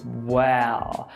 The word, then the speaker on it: well: O que eu quero te lembrar aqui é que para pronunciar essa palavra, primeiro você fecha a boca, e depois você sobe um L. Well.